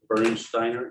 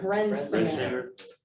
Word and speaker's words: Brensinger: LaValle Bernsteiner, is that how you say it? Bressinger? Brensinger. Brensinger, meeting update and next step.